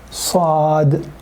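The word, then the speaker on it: صاد: Us, us, us, Sad, Sad. Its name is Sad. We pronounce it us, like us.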